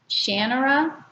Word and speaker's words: Shannara: And it's the Elf Stones of, I always say Shannara by Terry Brooks, but I believe Terry Brooks said that when he wrote it, he had the name, it pronounced as Shannara. But I think Shannara is prettier and I just can't get it out of my head.